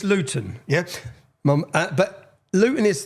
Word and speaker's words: Luton: And so anyone if you don't understand Luton Luton see I pronounce my tea there. We don't pronounce our te's.